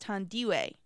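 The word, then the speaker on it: Thandiwe: I and the E of Dandy and it's pronounced tandiwe and that's her real name she says that's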